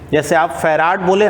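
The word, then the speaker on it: farad: यानी कि कैपेसिटेंस का ऐसा यूनिट तो क्या हो गया, फैराड बोले ना, कि कोई फैरेड भी बोलता है। अब चलिए जो प्रोनाउंसिएशन हो हम लोग फैराड ही बोलेंगे, तो कैपेसिटेंस का यूनिट जो है फैराड बोलेंगे, ऐसा यूनिट।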